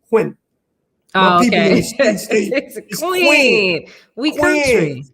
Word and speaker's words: Quinn: if you from here you call me queen even though my name has one syllable quinn oh okay queen we